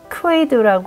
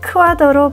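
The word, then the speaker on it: Kwade: 알렉시아 더의 작품을 보시겠습니다 폴란 이름인데 영어 발음으로는 알렉시아 웨이라 부르기 때문에 발음이 혼동스러운요 아티스트 이름 목록에서 찾아보니 와더 발음한다고 써 있었습니다 이번 전시는 알렉시아 와더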